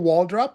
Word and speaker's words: Waldroup: Is it Michael Waldrop? Is that how you pronounce it?